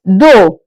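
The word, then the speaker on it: deux: Two in English in French is do.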